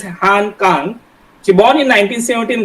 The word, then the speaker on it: Han Kang: In Korean language, it's just Han Kan, but in English we pronounce it as Kang.